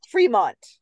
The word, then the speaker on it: Fremont: No, it's pronounced Fremont.